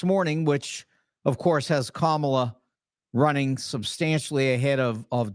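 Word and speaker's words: Kamala: of kamla Harris and I did say comma because every normal person is perfectly able to pronounce her name and knows her name and naturally Donald is doing everything he can to be ignorant Camella and all that other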